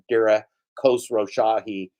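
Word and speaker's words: Dara Khosrowshahi: How do you pronounce Dara's name again? Dara Khosrow Shahi.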